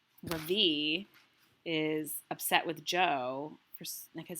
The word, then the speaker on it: Ravi: R-A-V-I. Mrs. Beam has been calling him Ravi, but when he introduced himself earlier, I'm pretty sure he said his name was Ravi, with the accent on the second syllable.